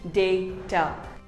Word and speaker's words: data: is not data it is called data say day ter similarly here's another word it is not daemon